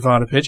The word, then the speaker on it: Vodopich: Potter pitch am i pronouncing that right yes you are is about